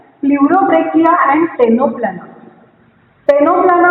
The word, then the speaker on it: Ctenoplana: टेनोप्लाना में सी is silent, so 2 examples, Pleurobrachia and Ctenoplana.